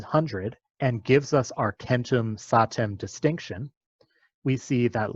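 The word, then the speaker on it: centum: And Latin, Kentum, which is a hard C, it's pronounced as a k, and the k of Greek, hecaton, shows that this is the case.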